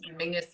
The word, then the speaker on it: Menzies: that for anybody else mingus is how weirdly the scot dish people um that's that's how they would pronounce menzies i don't understand where the g comes out of it but that's it is all weird yeah but it is